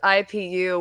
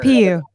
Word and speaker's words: IPU: don't pronounce the IPU without the dots in between. Like, don't say it as a word. IPU.